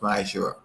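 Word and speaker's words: מעשר: It means tenth in the Hebrew and is pronounced Ma'ashur.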